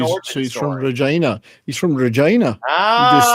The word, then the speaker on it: Regina: So not vagina, Regina. Okay? Well, he tells the story. He tells the story as to why that line is in the film, which is why Regina rhymes with fun.